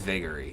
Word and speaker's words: Vagary: vagary of agari vegas vagary is the proper pronunciation oh was i used